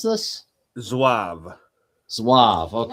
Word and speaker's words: Zouave: Zouave. Okay. Like essentially swab. All right, first Zouave Battalion. Yeah, it's a French term.